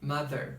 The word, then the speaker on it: mother: Essas três últimas que eu falei soam como D. Parece que a gente já tá ouvindo um D, né? Mother, together, mas não. Mother, together, tá bom?